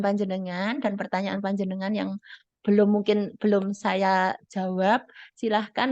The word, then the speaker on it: Bloom: Taksonomi Bloom jadi belum Ini nama orang ya belum bacanya Ya jangan blom atau bloon bukan berarti khawatir saya jadi bloon jadi Taksonomi Bloom ini